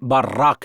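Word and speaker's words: ברך: तो 3 अक्षर जिनका उच्चारण बर्राक है।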